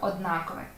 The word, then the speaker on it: однаковий: підошва чи підошва підошва однаковий чи однаковий звісно однаковий у цьому завданні без чітких знань не обійтися